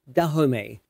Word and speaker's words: Dahomey: naniska and nawi note I will also be pronouncing the commonly used name the homie as dahome since it is actually a French word derived from an earlier word in the fond language so I'll be using the French pronunciation it's unclear exactly when